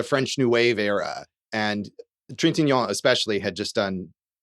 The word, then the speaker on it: Trintignant: Yeah, and Josh, pronounce the lead actor's last name for me one more Trintignant. time. See, that's very good. I would have been like Trigonet.